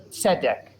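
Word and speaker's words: צֶדֶק: with the clue and we have a rule about Sego segals if there are two segals in a row the first Segal takes the accent so set deck there you go good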